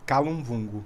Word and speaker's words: Kalunvungo: Hoje eu tô com o Titi aqui, Thago, eu não sei pronunciar o seu nome artístico direito, corretamente. Calum Vungo.